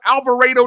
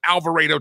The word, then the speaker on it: Alvarado: It's called Alvaro, Texas. Anybody from Texas in Texas knows that you pronounce it Alvarado, Texas.